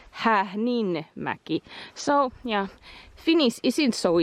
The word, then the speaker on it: Häähninmäki: We were saying it Hähinmäki but then I was noticing that it is Hähnmäki.